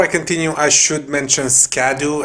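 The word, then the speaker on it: Scadutree: continue I should mention scadu actually means shadow in Old English so these names could be pronounced as Shadow tree blessing and Shadow tree fragment uh I'll keep calling it scad tree though because it sounds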